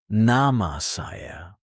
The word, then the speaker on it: nama saya: In Indonesian, you say nama saya. Pronounced nahma sahya.